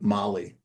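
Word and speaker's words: Malé: We had an 8-hour wait in Abu Dhabi and another 4-hour wait in the capital of Maldives, which is spelled Male, but pronounced like Mali.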